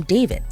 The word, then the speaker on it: d4vd: singer David Anthony Burke, better known by his stage name David, but spelled with a 4.